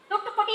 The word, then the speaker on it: Thoothukudi: Thoothukudi is correct pronunciation.